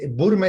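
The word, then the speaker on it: Würm: glaciación Bum para la burme es el título que le damos se escribe con w con w o con diéresis vale burme vale se se dice bueno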